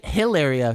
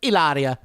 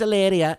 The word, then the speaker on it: Hilaria: i'm not just saying she doesn't even say hilaria she says eleria eleria it's spelled hilaria but she says it's alleria and then her name's